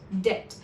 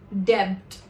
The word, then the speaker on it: debt: Here the letter B is not pronounced. It is silent. Hence we call it debt and not debt.